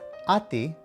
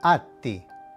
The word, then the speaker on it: atti: And finally, when you see 2 consonants together, like a double T or a double B, you have to draw the sound out a little bit.